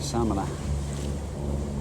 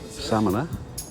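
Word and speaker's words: Samaná: I think they pronounce it Samana, which is where the humpback whales come to have their babies, according to my daughter.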